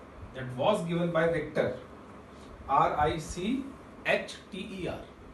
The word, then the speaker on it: Richter: Scientist ने, given by Richter, RICH is silent over here, that is given by, that was given by Richter, RICHTER. तो H is silent over here and you have to read it as Richter.